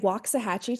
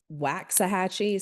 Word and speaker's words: Waxahachie: We are in Waxahachie, Texas. We moved here about 10 years ago. Before we moved here, I thought it was Waxahachie. So it's Waxahachie.